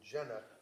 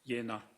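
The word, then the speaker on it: Jena: v a t e r a medical in Jenna j e n a German yeah it's pronounced yenna yenna okay thank you and um this was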